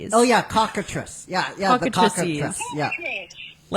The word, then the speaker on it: cockatrices: Um, my uh pronunciation of this may be butchered, but it's basically like chicken atrocities. Cockatrices. Oh, yeah. Cockatress.